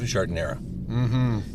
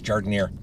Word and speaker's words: giardiniera: But it's always giardiniera. Giardiniera. Well, I believe it technically has an A at the end, but I've never heard it pronounced like that, so I don't know.